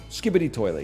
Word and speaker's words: Skibidi Toilet: Skibidi Toilet, yeah.